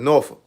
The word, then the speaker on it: Norfolk: Like people say people say Norfolk. Nor folk. We call it Norolk.